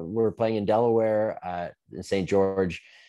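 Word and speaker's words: St. Georges: Yeah, so we're playing in Delaware, in St. George. Do you say St. George, or do you pronounce the S on that? You don't pronounce the S, right?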